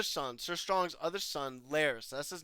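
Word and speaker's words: Larys: Sir Strong's other son, Laris. That's his name. I just thought like when I almost thought his name was Varys, like the spider Varys from Game of Thrones, but no, it's Laris.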